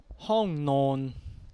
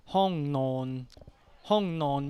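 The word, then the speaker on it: ห้องนอน: The second word is hong non. Hong non means bedroom. So hong non, we have two syllables. Hong and non, two syllables.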